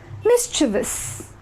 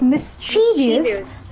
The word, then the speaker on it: mischievous: So it's mischievous. Do not forget to pronounce this I. I is very important.